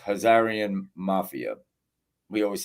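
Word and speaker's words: Khazarian: hazar because it's not Kazarian it's hazarian h um that's how it's really pronounced hazarian Mafia we always say Kazarian the K is silent they corrected me on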